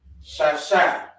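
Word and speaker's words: שש: 6 is pronounced in the Hebrew, shasha.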